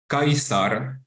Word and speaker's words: Caesar: we know that uh the name Caesar was pronounced in fact kaisar or the name Cicero was in uh fact pronounced kikero and you know this